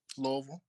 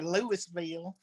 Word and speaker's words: Louisville: Uh how do you pronounce the city you live in? Louisville. Uh I'm Louisville. So I I grew up here. I'm from Ohio. So and there's some that say Lewisville.